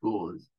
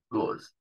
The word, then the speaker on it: gauze: Esta AU se pronuncia como una O larga. Gauze. ¿Sí? La E no se pronuncia al final. Gauze. Bien.